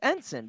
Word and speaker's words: ensign: It's ensign because the G is silent.